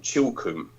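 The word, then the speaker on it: Chilcomb: outside of Winchester in a little village called chilkum and it's spelled c-h-i-l-c-o-m-b uh this little village called chilkum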